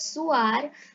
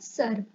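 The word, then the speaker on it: sœur: Now we can hear we may be able to pronounce soir, but it is considered wrong in French, so we are pronouncing it sir.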